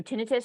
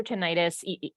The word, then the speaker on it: tinnitus: yep great question um so so tinnitus or tinnitus either pronunciation is completely fine um that generally goes